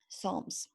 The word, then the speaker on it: psalms: prayer the third p psalms yeah i know it sounds like an s but it actually spelled with p psalms you probably knew